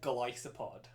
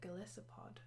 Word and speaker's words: Golisopod: I think I really like Golisopod. Oh, I see. I call it Golisopod. Well, it's a Goliath isopod. Oh my god. See, I've only heard people call it Golisopod.